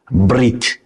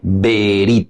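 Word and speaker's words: ברית: Brit, en realidad ahí hay eso se le llama shev e, pero es una e tan suavecita, tan suavecita, que casi no se escucha. Algunas veces nosotros pronunciamos con más fuerza, ¿verdad? Eh, Berit, ya es berit, pero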